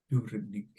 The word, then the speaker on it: Dubrovnik: the rolled ours but yeah a lot of Americans say like Dubrovnik yeah okay and how would you say it Dubrovnik and how about soccer just like it's pretty